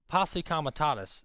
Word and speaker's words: posse comitatus: Posse comitatus is how you pronounce that.